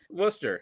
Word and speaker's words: Worcester: There's See, English is fun. Like there's a lot of silent letters in there.